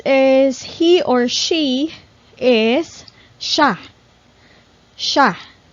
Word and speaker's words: siya: Next is he or she is siya. Siya. Or you can also pronounce this like siya, but normally in casual conversations, we pronounce this as siya.